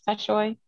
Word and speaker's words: Tashoy: And I'm pronouncing that right? It's Tashoy? Yeah, yes, it is.